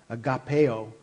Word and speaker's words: agape: And so, the word we're dealing with here today, though, again, is agape. Agapeo is the actual pronunciation for the Greek there.